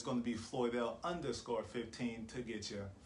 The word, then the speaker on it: Floydelle: say it like this it's a beautiful con pound word floyd floyd if pumpkin is watching flood and then like the computer dell so f l o